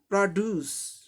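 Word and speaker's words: produce: सब phonemic transcription same रहेगा, उच्चारण सेम रहेगा, सिर्फ स्ट्रेस की जगह फर्क हो जाएगा। पहले सिलेबल की जगह दूसरे सिलेबल पे आ जाएगा।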